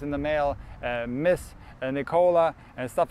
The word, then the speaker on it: Nikola: Unfortunately, my name is Nikola, or Nikola, how we say it